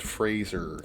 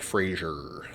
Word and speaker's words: Fraser: The Mummy starring Brendan Fraser great film though classic you you know I love that film classic it's a good film and just for the record it's pronounced Fraser not Frasier do you think that's